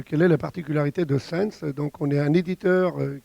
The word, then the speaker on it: SenX: Bonjour, donc et donc je dirige la société Sense qui s'écrit SENX. Donc en réalité c'est Sense comme sensor, comme capteur, puisque notre spécialisation c'est le traitement des données de capteurs.